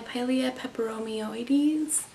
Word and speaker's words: Pilea peperomioides: This is my Pilea peperomioides, I believe is how you pronounce the name of this plant, or some call it a Chinese money plant.